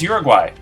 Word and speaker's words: Uruguay: The correct answer is Uruguay. It's actually pronounced Uruguay, I think.